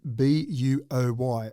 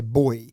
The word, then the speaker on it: buoy: The first one is the pronunciation of B-U-O-Y. I say boy. Yeah. But Americans say buoy.